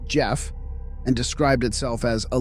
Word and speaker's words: Gef: Within months, the entity ah, which eventually named itself Gef, pronounced Jeff, and described itself as a little extra clever mongoose, had developed a personality.